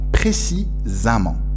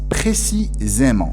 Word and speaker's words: précisément: dans ce faux cement précisemment d'accord or nous avons un accent aigu sur le donc la prononciation des halles à cancun et watch il faut donc qu'on prononce précisément c'est la bonne prononciation c'est la prononciation juste